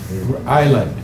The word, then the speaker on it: island: Road Island. Silent S on island.